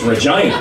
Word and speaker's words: Regina: It's spelled Regina, but it's Regina.